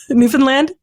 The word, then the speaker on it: Newfoundland: By the way, did I pronounce that right? Newfoundland?